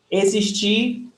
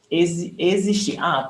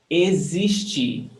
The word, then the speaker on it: existir: Existir is to exist. Existir. Pay attention to the pronunciation. The X is pronounced as Z. Existir.